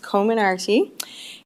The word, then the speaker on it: Comirnaty: And somebody was asking me how to pronounce it the other day, and I actually looked it up, and it is pronounced Comirnaty.